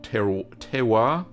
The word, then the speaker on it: terroir: So it's like that local terroir.